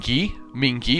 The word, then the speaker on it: Mingi: Mingi with a hard g.